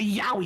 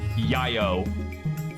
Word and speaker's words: yaoi: I thought it was yayo for like a decade.